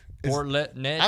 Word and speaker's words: Port Neches: leche. It's like milk. Port Natchez.